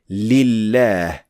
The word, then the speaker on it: لله: So it is extremely important to understand that this lam is not actually pronounced at all. We only pronounce the second lam with shadda, just like al-layl.